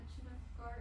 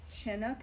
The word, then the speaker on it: Chinook: The reason I pronounce it Chinook and not Chinook is that in every pioneer story that I've read, they put something like a TCH to indicate a harder sound there, not a softer sh sound.